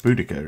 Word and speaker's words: Boadicea: I found the Boadicea, or no, in fact that is spelt Boadicea. I know the mod, like, oh yeah, it's actually pronounced Boudica.